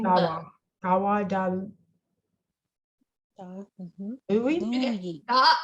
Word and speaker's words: Louwi: It's the same Y as in yes.